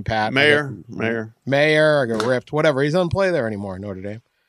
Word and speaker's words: Mayer: I know I said his name wrong. How do you say his name, Pat? Mayer.